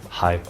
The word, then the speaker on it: 係: This one, without the mouth on the left-hand side, is a flat tone. It's tone number 6, hai. And this one is tone number 2, hai.